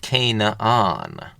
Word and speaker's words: Canaan: the Canaanites, and their land was called Canaan, sometimes pronounced Canaan.